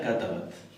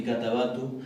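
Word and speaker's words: كتبت: Entonces no es ni katabatu. Ahí no es que no se pronuncie la vocal breve porque termine la oración, ¿verdad? Sino que no se pronuncia porque va un sukun. Termina con sukun.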